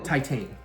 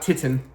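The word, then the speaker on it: Titane: How do you pronounce that title? Titan. Okay. Not Titan.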